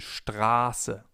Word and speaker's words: Straße: If we have a sharp S, the vowel sound before the S is long. For example, in Straße, Straße, or ich heiße, ich heiße. The vowel or diphthong in this case is pronounced long, Straße.